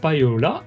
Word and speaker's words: Paiola: Il y a d'abord Payola, si je prononce bien, et tu prononces bien.